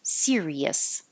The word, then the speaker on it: serious: And the difference between the word series and serious. So series is 2 syllables, and serious is 3, like sunflower, 1, 2, 3, serious.